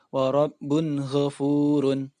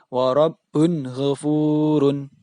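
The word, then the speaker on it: وَرَبٌّ غَفُورٌ: Maka bila terdapat domah tanwin bertemu dengan ghin, maka wajib dibaca jelas. Warabbun ghafurun. Tidak boleh dibaca warabbun ghafur. Begitu juga tidak boleh dibaca warabbun ghafur. Akan tetapi harus dibaca warabbun ghafurun.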